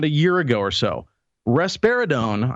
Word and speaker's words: risperidone: Risperidone, I believe is how it's pronounced, is the drug.